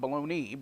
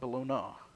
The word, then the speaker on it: Bologna: and bologna and Italy that's not baloney but bologna spelled the same way though isn't it stipulating